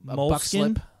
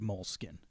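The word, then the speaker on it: Moleskine: It's spelled weird, moleskin. Mm-hmm. The actual like brand. It's like Skine.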